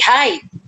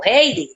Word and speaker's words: Hyde: Él habla allí de Mr. Jekyll y Hyde, o Heidi, depende de la pronunciación.